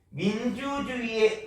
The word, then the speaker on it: 민주주의의: 둘째 음절 이하에서부터는 의도 발음할 수 있지만 그냥 이라고 발음할 수도 있습니다.